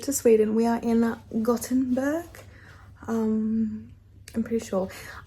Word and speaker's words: Gothenburg: We are in Gothenburg. I'm pretty sure. I read it as Gothenburg, but it's pronounced with more of a T.